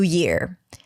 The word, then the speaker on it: year: Some people may pronounce it as ear. If that's you, go back and listen to episode number 88, where I answered questions. In general, that's a y sound as in yes, and then it's the